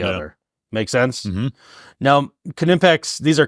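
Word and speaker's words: Knipex: like that's not how you don't say the K and then we're like actually you do the Germans do and these are German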